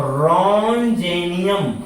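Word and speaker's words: Roentgenium: हो जाएगा ध्यान दीजिएगा ये टी साइलेंट है तो रन जेनियम क्या नाम हो गया रन जेनियम लिखेंगे र रन जेनियम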